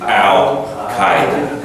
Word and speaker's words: Al-Qaeda: But if you're going to speak English to another person in English who speaks English about this organization, the pronunciation would be Al-Qaeda.